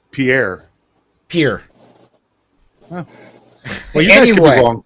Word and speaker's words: Pierre: you don't know it's it's spelled p i p-i-e-r-r-e pronounce it once it's pierre pierre huh well yeah anyway it's all right